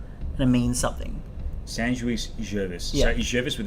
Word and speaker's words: Jovis: So you've said it Jovis, because the Latin don't pronounce their V's. They pronounce their V's as W's, because it was the Greeks that introduced V's and the V into Latin.